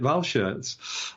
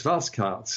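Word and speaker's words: Walschaerts: 70 Decades of Life have pronounced that incorrectly because we've always we've always made it German and called it Val shirs uh but uh ven is telling us it's vasart and I can believe that because Belgian pronunciation is very different from German pronunciation so thank you for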